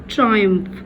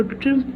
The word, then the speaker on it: triumph: یہ word ہے triumph. کچھ لوگ اس کو triumph بھی پڑھتے ہیں, but the accurate and the right pronunciation is triumph and disaster.